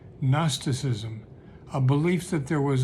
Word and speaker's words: gnosticism: idea was something called gnosticism with a silent g at the beginning gnosticism a belief that there